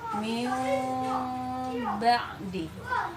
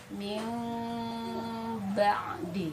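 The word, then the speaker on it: مِنْ بَعْدِ: Jadi dibacanya min ba'di ya. Jadi kita usahakan begitu ya, cara pembacaannya adalah tadi bibir tidak rapat sempurna gitu dan ditahan tadi ya, min ba'di gitu ya.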